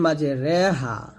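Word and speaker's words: مجراها: এখানে রিও হবে না আবার র হবে না, বলতে হবে রে রে, এটা হচ্ছে এমালা।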